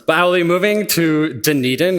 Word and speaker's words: Dunedin: I'll be moving to denan is how you pronounce it it's Gaelic it looks nothing like what you would expect denan to be pronounced like to join a team